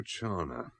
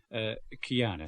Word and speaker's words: Chiana: Rosario Chana. Chiana, sir. CH is spelled here. H hardens the C in Italian.